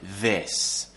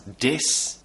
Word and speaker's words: this: This. But I have many students who pronounce the word this as dis, think as sink or tink.